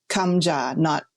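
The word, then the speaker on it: 감자: Kamja, not Kim, but kamja. Now I'm like kimbap totally makes sense to me. And to that point, Andrea, in that recipe title itself, kalbi and kamja, they're the same letter.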